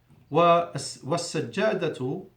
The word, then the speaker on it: والسجادة: والسجادة, I don't pronounce the lam because it's a sun letter, the sin. والسجادة, I went from letter 1, the waw, to letter 3 because there's shadda after the L.